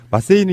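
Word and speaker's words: マッセ: 마세이는 이제 정확히 일본어로는 마세예요. 마세.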